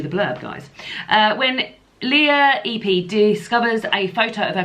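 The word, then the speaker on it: Ypi: How do you pronounce the surname EP? EP. EP.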